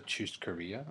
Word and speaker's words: churrascaria: And we went to Texas de Brazil, which, if you don't know, it's called a churrascaria. I believe that's how you pronounce it.